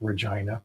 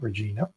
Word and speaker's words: Regina: Um, yes, the city's name is pronounced Regina, not Regina, which is I Regina is actually the English pronunciation.